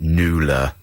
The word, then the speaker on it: Nuala: I just got a snooty text from my brother saying Nuala, sometimes pronounced Nula.